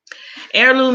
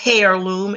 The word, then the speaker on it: heirloom: Heirloom in this sense, the H is silent. The H is silent. It's not a heirloom, it's an heirloom.